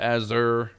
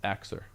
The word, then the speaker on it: Axure: know showcase a Xerxure people call it aerure. It's Axer. That's how you say it. Axer.